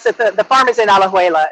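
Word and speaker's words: Alajuela: me here was that in out I don't pronounce it right aloeva yeah that's the the farm is in alejuela it's um it's just like from state to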